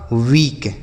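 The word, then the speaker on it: weak: डब्लू ई ए के, तो डब्लू से पढ़ेंगे बच्चों आपका वाह, और के से क, ई ए का उच्चारण बड़ी ई की मात्रा। समझ आ गया? ये लिखा आपका वीक।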